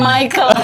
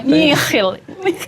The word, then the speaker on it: Michiel: Bukan Michael. Bukan Michael. Kadang salah. Michiel. Iya, betul.